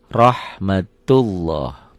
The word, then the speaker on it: rahmatullah: Seakan-akan ada W-nya ya. Rahmatullah. Jadi sekali lagi, tidak ada salah sebetulnya orang yang baca Latin bilang rahmatullahi. Emang tulisannya gini tuh.